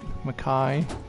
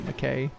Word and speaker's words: Makai: to Brisbane been damaged Makai guys say it right - Kai not McKay baseball Bob first on